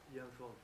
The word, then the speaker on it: Yang Feng: I hear somebody say Yang Feng, I hear somebody else say Yang Feng. What is the correct pronunciation? Young Feng. Young Feng.